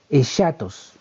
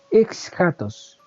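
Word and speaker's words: ἔσχατος: La palabra griega para referirse a final se pronuncia aproximadamente, perdone la fonética, pero yo no sé hablar este idioma, pero así que lo más cercano es chatos.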